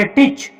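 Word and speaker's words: teach: तो जब ई के तुरंत बाद ए आता है तो उस समय ए को नहीं पढ़ा जाता है। इसको केवल क्या पढ़ेंगे, टीच।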